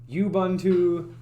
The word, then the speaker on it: Ubuntu: I don't even know if I'm pronouncing this right, but Ubuntu.